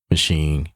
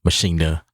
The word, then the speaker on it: Maschine: people wanted to know my thoughts about machine Mach that's the correct way to say it but uh a lot